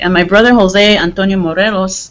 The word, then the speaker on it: Morelos: And my brother, Jose Antonio Morelos, that's the way we pronounce our name. My brother, Jose Antonio Morelos, they try to force me to pronounce it the right way, the Mexican way.